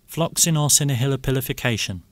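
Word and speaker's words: floccinaucinihilipilification: Floxinorcinahilipilification.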